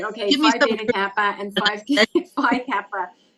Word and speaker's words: Phi Beta Kappa: Is it Phi Beta Kappa?